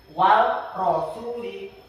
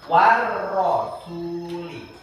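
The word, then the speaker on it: وَالرَّسُولِ: Jadi enggak boleh bacanya wal rasuli. Enggak boleh. Enggak boleh wal rasuli. Karena dia asyamsiah dimasukkan war rasuli.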